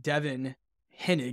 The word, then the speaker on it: Devon Hennig: right we are officially live here we've got Devin henig is that how you pronounce it Devon that's right should awesome I